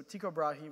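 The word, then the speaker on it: Tycho Brahe: for everybody else I'll fill you in so Tico brahi which is how I like to pronounce it was a 16th century Danish Aristocrat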